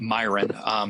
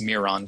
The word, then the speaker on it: Myron: by a sculptor named Myron. Sometimes it's pronounced Miron, depending on who your teacher is.